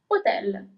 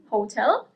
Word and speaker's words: hotel: you pronounce it as hotel. In Italian, it's hotel. So you actually the accent is slightly different as well, but especially you don't pronounce the first H.